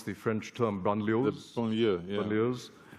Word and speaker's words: banlieue: How could you have avoided what's happening in the, how do you pronounce the French term, banlieues?